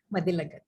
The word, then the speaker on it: Mathilakath: You pronounce it as Mathilakat. So how do you pronounce? Mathilakat. L-A-K. No, it's okay. It pronounced as G-A-T-H. Yeah. Yeah, Mathilakat.